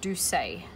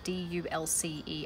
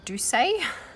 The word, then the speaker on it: Dulce: but she pronounces it do say and I'm assuming that is the proper Spanish pronunciation for the word spelt D u LC e I've been calling it